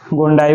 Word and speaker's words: gondii: अपना टोक्सोप्लाज्मा गोंडी है, या आप गोंडी कह सकते हो या गोंडाई बोल सकते हो, डबल आई लगा है, ठीक है, कुछ भी आप प्रोनाउंसिएशन कर सकते हो, पर मेरे हिसाब से क्या है टोक्सोप्लाज्मा गोंडाई, ठीक है, या गोंडाई या गोंडी बोल दो, ठीक है, गुंडी नहीं,